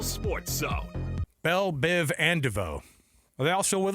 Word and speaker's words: DeVoe: And then you can be DeVoe. Thanks for Not to be na not to be pronounced Devo.